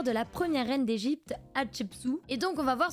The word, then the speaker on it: Hatshepsut: Il me semble que c'est tiré d'une histoire vraie, puisqu'on retrouve des personnages emblématiques de l'Égypte antique avec Hatshepsut. Ça se prononce comme ça.